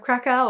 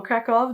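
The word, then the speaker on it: Kraków: is The Dollmaker of Krakow, or Krakow, depending on how you want to pronounce it, by R.M.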